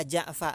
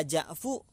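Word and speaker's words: جعفَ: Menjadi ya Ja'fa, enggak boleh dibaca ya Ja'fu, enggak boleh dibaca ya Ja'fi. Kenapa? Karena aslunya adalah Ja'faru, fa-nya di fathah. Maka bacanya ya Ja'fa.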